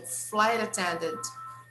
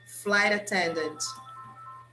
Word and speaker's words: flight attendant: Flight attendant, flight attendant, flight attendant. Observe that here we connect flight and attendant, and the T we pronounce with the sound of R. So flight attendant, flight attendant.